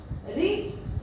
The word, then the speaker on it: ऋ: बार कर्षण करती है लेकिन जब हम री ऋ का उच्चारण करते हैं तो इसमें जीवा जो है